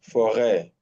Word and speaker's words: forêt: That tells you already that is what? A. Yeah. Arrêt, forêt, prêt, Mm-hmm.